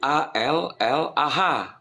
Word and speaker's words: Allah: Semua manusia yang berbahasa apapun menerjemahkan alif lam lam ha huruf hijaiyah menjadi A, L, L, A, H. Disebutnya tetap Allah sesuai dengan ayat suci.